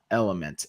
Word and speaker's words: LMNT: our show tonight, so it's spelled like this, Element, LMNT.